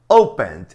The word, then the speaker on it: open: Open é a primeira.